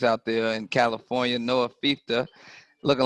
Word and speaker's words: Fifita: And that's how you pronounce it, Fifita? Because I would have said Fifita. Okay. Fifita.